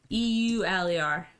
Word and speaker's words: Euler: pronounce differently than me elder euler wheeler owler the correct pronunciation is euler spoiler okay is it